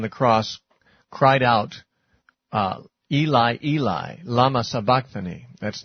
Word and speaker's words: Eli: Well, Eli, or probably pronounced more like Ellie, Eli, Elli um is Aramaic.